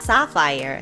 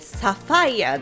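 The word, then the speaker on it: sapphire: いってよいでしょう英語の正しい発音はさあファイアでサファイヤーではないのでご注意下さい実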